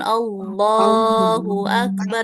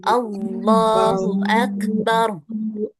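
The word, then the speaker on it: الله أكبر: Allah Allah Allahu Akbar Allahu Akbar Tib lafaz Allah itu dibaca berapa harakat? Allahu Akbar. Dua dua harakat. Iya dua harakat. Jadi jangan terlalu panjang ya. Jangan Allahu Akbar itu kepanjangan. Bacanya dua harakat aja. Allahu Akbar.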